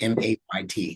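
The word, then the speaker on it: ميت: Can you say that, like M-A-Y-T? Say that. MAIT. Or M-A-Y-T, mate. Oh, MAYT. Yeah.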